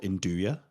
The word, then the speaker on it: nduja: is this Italian soft sausage called Induja, which is spelled Nduja. Induja or mushroom.